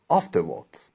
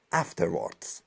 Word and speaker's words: afterwards: این تلفظش به صورت بریتانیایی که ایشون هم بریتانیایی تلفظ میکنن اینجوریه. afterwards یعنی اون الف اون ای و آ میگه و ریرم اصلا تلفظ نمیکنه عملا، ولی امریکنش این کلمه رو به این صورت تلفظ میکنن afterwards و این به معنی بعدشه.